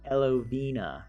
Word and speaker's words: Elovena: And I ended up with my Elovena, as it's pronounced. Elovena.